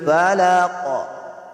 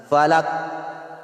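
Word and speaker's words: فلق: Qul a'udhu birabbil falaq. Falaq, falaq. Qul a'udhu birabbil falaq. Falaq. Dapat may qalqala siya. Hindi pwede bigkasin na falak.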